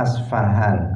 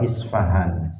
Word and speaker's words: Isfahan: sebuah kota di Iran yang bernama asfahan atau isfahan ada yang membacanya asfahan atau Subhan itu sebuah kota yang